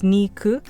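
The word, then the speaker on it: にく: of the month which two in japanese is knee and nine in japanese is pronounced ku so if you pronounce it together it's niku which niku also means meat technically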